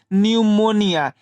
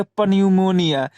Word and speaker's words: PNEUMONIA: जैसे PNEUMONIA। अब यहाँ आप देखिए एन से पहले क्या है हमारा? पी है, तब यहाँ पी क्या रहेगा? साइलेंट रहेगा। तब यहाँ पी का उच्चारण नहीं करते हैं, इसका उच्चारण यहाँ से शुरू करते हैं, तो इसे हम क्या पढ़ते हैं? न्यूमोनिया। इसे हम क्या बोलते हैं? न्यूमोनिया। न कि आप यहाँ इसे उच्चारण करेंगे पन्यूमोनिया।